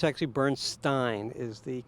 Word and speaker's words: Bernstein: out some dead celebs so was it lettering Bernstein no it's actually Bernstein is the correct pronunciation is it Leonard or is it leo